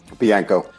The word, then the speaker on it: Bianco: Joe or what Joe what's your last name biano biano I wasn't going to try biano I wasn't try to pronounce it so he wrote the wrote the